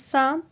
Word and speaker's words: psalm: Have you heard this psalm? Psalm means भजन। यहाँ पे P और L दोनों साइलेंट है।